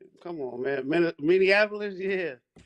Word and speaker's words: Minneapolis: is that you in Minnesota yeah you in minan Apolis come on man Minneapolis yeah it's like I mean